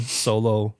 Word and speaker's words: Soulo: I bring my one-man solo Hilleberg solo tent. It's called the Hilleberg Solo. It's spelled Soulo. It's not solo. It looks like solo, you know.